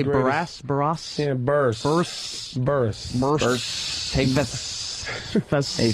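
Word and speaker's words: Burress: Yeah, Burs.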